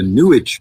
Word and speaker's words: New Age: Well, and that's why I specify, because we get the idea that there's an astral plane from the New Age people. It rhymes with sewage.